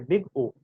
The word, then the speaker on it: big O: It is pronounced in that way, big O.